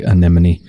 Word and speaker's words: anemone: one of the results or it's a sea anemone either way I think it's pronounced anemone there's a hollow at the heart